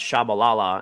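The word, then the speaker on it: Tshabalala: from a player and who's pronounced shabalala and it was went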